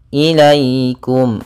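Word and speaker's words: إِلَيْكُمْ: sukun yang di fathah ini bacaan Lin maka dalam pelafalannya harus lembut tidak boleh ilaikum jangan sampai juga dibaca dengan bacaan e harus sempurna i-nya ilaikum ilaikum kemudian pelfalkum kembali lagi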